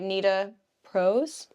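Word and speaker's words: Nita Prose: book on our list is the maid by Nita Pros that's how you say it Thriller mystery bought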